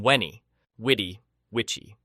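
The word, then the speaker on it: veni, vidi, vici: The letter V sounded like W. So Veni Vidivvichi would have been Winnie, witty, witchy.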